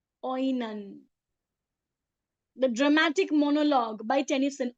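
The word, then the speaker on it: Oenone: This line was written by Tennyson in the work Oani. Oan oan the lover of Paris. Remember Oan? O E N O N E. Oan the dramatic monologue by Tennyson.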